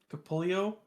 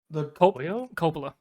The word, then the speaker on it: Coppola: How do you say their last name? Capullo? Coppola. Coppola, thank you.